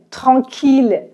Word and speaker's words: tranquille: Normalement, I-L-L se prononce y, comme dans famille. Mais ville, tranquille, mille sont trois exceptions où on prononce il.